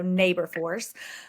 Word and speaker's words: Naborforce: It's kind of a play on labor force, so Naborforce.